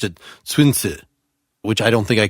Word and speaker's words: Sun Tzu: from hong kong read the librivox version he pronounced it swinsu which i don't think i can say 50